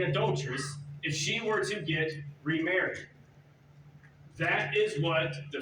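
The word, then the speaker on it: גט: certificate of divorce in Hebrew was called a get that's how you pronounce it the Hebrew word for it get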